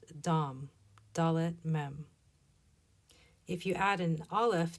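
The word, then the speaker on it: דם: This is an example of the word for blood and it's pronounced dam.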